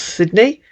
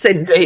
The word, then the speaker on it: Sydney: from c-i-n-d what that's why no not CI s-y-d-n-e-y right well it's not pronounced Cindy is it that's Sydney yeah thank you yeah